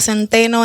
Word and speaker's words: Centeno: ¿Lo pronuncié bien el Centeno?